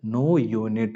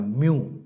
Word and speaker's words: mu: எப்படி எழுதுவாங்கன்னா MU, எப்படி pronounce பண்ணணும் பாருங்க, மியூ. சரிங்களா? நியூ கிடையாது, மியூ, MU, மியூ.